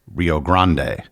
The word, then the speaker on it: Rio Grande: Rio Grand is a very common English pronunciation of the river and what most English speakers are probably familiar with.